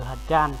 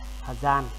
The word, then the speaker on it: hjan: Nếu mà các bạn không đọc được từ hờ chan thì bạn có thể đọc là hờ gian cũng được nha. Rồi, tạm chấp nhận thôi. Mà cố gắng phát âm cho chuẩn đi.